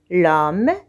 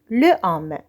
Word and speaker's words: l'homme: voyelle par un apostrophe on dit l'homme et non le homme on prononce l'homme en faisant la liaison avec la voyelle o l'homme travail travaille avec